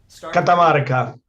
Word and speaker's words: Catamarca: He's just back from the am I going to pronounce this correctly? Catamarca? Catamarca.